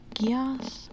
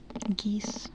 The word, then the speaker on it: Geass: Geass? Okay. G pronounced like goat. I like that. Thank you, Curly. So I did not I did not do anything to that. I swear. Shut up. Geese.